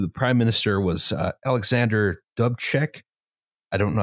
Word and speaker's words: Dubček: I believe the prime minister was Alexander Dubček. I don't know how to pronounce that. Dubček, yeah, it's Dubček.